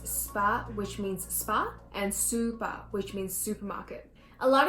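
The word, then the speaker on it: スーパー: Another example is spa, which means spa, and super, which means supermarket.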